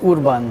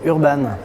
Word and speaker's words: Urban: véritable, la bonne prononciation, ce serait Urban, parce que c'est d'origine hongroise. Mais ici, on va dire Urban.